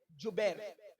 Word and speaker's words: جبیر: اس درے پر 50 صحابہ کو عبداللہ ابن زبیر نہیں بلکہ جبیر, جیم سے جبیر.